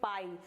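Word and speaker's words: pie: ठीक है जैसे कि पी आई ई इसको हम क्या पढ़ेंगे पाई अगर आप देखेंगे पी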